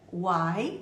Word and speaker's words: why: te entender e a conversa vai fluir então pronúncia Uai você já viu que é simples ó existe